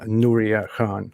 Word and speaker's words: Nuria Khan: you nuria so um i know i'm saying it right but uh nuria khan right yeah great pronunciation you're one of the